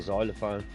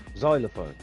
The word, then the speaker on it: xylophone: say how do you say xylophone but that starts with an X so Xanax start for the next yeah it sounds like he starts with z though doesn't it yep xylophone I guess that's what